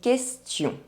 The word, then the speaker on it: question: The letter U is not pronounced when it is between the letter Q and another vowel. Une question.